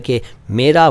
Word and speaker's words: क़ौम: अगला शब्द "क़ौम" है। और यहाँ मैं यह बताना चाहूँगा कि सही शब्द "क़ौम" है, "कौम" नहीं। आपमें से अधिकांश लोग इसका उच्चारण "कौम" करेंगे। कौम!